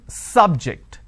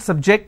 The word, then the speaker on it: subject: so i say bio biology is an interesting subject i'm i'm stressing on the first syllable okay now i am using another example please don't subject the students to any tests so here my stress has moved to the second syllable for example when i